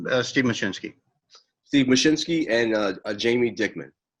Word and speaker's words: Machcinski: Yes, it's Steve Machcinski.